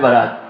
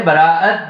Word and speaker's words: براءت: مہینے میں شب برات۔ بہت سارے لوگ جو ہے اس کا تلفظ غلط کرتے ہیں، کہتے ہیں شب برات۔ برات تو وہ ہوتی ہے جو دولہا کے ساتھ جاتا ہے، یہ برات نہیں، یہ ہے براءت، بری ہونا۔ اور تیسری رات ہے